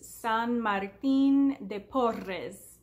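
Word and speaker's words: San Martín de Porres: has corrected me that his name is San Martin de Porres the double R is just not natural to me I'm American so sorry that's just how I say his name anyway st.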